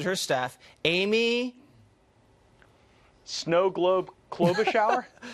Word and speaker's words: Klobuchar: Now, the Minnesota woman who apparently throws shoes at her staff, Amy Snow Globe Klobuchar? Klobuchar. I had too much shear on the Shar.